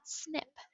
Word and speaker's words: SNP: abbreviated snp for single nucleotide polymorphism and they pronounce it snip this is called a snip so when scientists